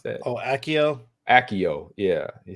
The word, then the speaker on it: Accio: How you pronounce that? Oh, Akio.